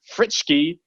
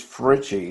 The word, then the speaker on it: Fritzsche: can ever pronounce, FRITZSCHE. Or I know I butchered that, buddy. Why don't you go ahead and tell us how you got your start into photography? Okay, the last name is FRITZSCHE.